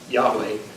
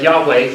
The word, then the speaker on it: Yahweh: be in the consonants we're not sure how the vowels were pronounced but Yahweh is the is a guess that we have for how it would have been pronounced so people thought well